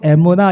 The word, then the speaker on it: 에무나: 여러분 여기에서 믿음이라는 것은 히브리어로 에무나 이렇게 발음을 해요 에무나 여러분이 에무나 말은 믿음이라는